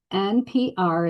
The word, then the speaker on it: nPr: NPR is how you pronounce it.